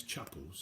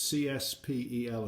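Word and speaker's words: Csepel: know somebody that do it and you actually pronounce chapels so see it see spel i think it is which is to me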